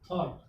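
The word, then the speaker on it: thought: ठीक, GH क्या हो गया, साइलेंट हो गया, यानी कितना बचा, THOUT, थॉट, थॉट मीन्स विचार या मत।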